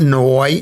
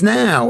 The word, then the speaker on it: now: It's not noi. It's now. It's like cow.